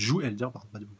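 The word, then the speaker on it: joug: est qu'on est libéré du j jou du jou le G ne se prononce pas à la fin en soit c'est pas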